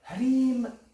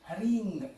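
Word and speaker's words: hrīṃ: In a sense, it would be Haring Kali. Haring Kali, because the rule here is the ang sound will transform based on what comes after.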